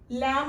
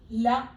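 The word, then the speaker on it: لَ: അടുത്തത് ലാം ആണ്. ലെറ്ററിന്റെ പ്രൊനൗൺസിയേഷൻ ല എന്നാണ്. നമ്മൾ ഫത്ത ഇട്ടപ്പോഴാണ് ല എന്നായത്. ശ്രദ്ധിക്കണം, ലാ അല്ല ല. അടുത്തത് അലിഫാണ്.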